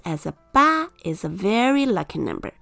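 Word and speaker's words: 八: is pronounced as a ba is a very lucky number because it sounds like the word fa which means to get rich there are people who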